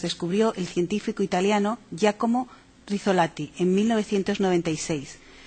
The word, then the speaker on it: Rizzolatti: pronuncia elisa no ya como raso latino giacomo rizzolatti se pronuncia ya como la sola a ti rizzolatti